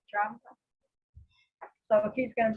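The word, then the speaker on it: Dramda: say his last name d-r-a-m-d-a how do you pronounce it drama drama so if he's going to be our our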